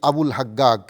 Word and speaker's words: আবুল হাজ্জাজ: প্রসিদ্ধি লাভ করে মসজিদে আবুল হাজ্জাজ বলে। মিশরীয়রা আরবী জিম অক্ষরকে কথ্য ভাষায় গ উচ্চারণ করে। তাই এই মসজিদ সম্পর্কে তাদেরকে জিজ্ঞেস করা হলে তারা বলে মসজিদে আবুল হাক্কা।